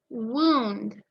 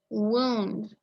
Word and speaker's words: wound: usually a deep gash wound w-o-u-n-d wound the other word that is spelled the same but sounds different is wound and that's to